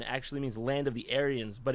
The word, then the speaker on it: Aryan: him and it is a Persian name it's pronounced aren oh you see the Indo Arians the yam